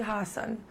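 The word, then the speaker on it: Haasan: thee Trudy - no it should be Hassan and I would really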